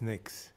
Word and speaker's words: NICS: more commonly known as NICs pronounced as NICs both agencies play a